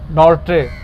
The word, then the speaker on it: Nortje: उसका नाम है अनरिच नॉर्ट्रे, NORTJE की होगा इसी तरह इसी तरह ही है। राइट आर्म जे प्रोनाउंस नहीं होगा ना।